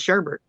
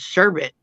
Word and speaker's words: sherbet: say it right because everybody says Sherbert but it's not Sherbert it's sherbet and you know it's